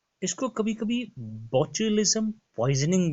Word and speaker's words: botulism: और इस डिजीज का नाम है, आप अपनी स्क्रीन पे देख सकते हैं, इसको पढ़ते हैं, इसकी प्रोनाउंसिएशन है बोचुलिज्म। इट्स BOTULISM, लेकिन इसको पढ़ा जाता है बोचुलिज्म।